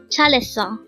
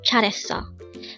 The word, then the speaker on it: 잘했어: 잘했어. Again, 잘했어. This pronounces a three-syllable word. The first syllable is 잘, the second syllable is het, and third syllable is 어. Pronounce it with me. 잘했어. 잘했어.